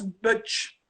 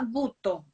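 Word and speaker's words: Butoh: Alors, j'ai vu en 2010, tu as fait un atelier de danse Butch. Ah, je crois que c'est Danza Butto, peut-être. Ah, ok, d'accord, j'ai mal prononcé, excuse-moi, c'est prononciation française.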